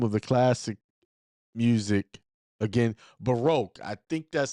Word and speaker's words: Baroque: what's the name of the classic music again Baroque I think that's spelled b a r o q u e